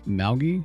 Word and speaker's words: Malgie: didn't actually want any it's malgie but you pronounce the a-l the same way you would in the word pal oh as in the